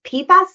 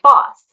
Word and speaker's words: PFAS: To give you the basics, PAS stands for Purr and poly floral alcohol substances. That's a mouthful. I pronounce it PAS. Some people say Poss. There's really no right or wrong way to say it, but from a technical